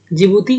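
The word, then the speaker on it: Djibouti: यहाँ देखिए, जिबूती डी से लिखा हुआ है लेकिन डी साइलेंट है।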